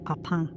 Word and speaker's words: Papin: Oh ya, sepanjang video ini saya izin untuk menyebut mereka papin karena lidah Sunda saya tidak sanggup untuk menyebutnya dalam pronunciation bahasa Perancis yaitu Papang.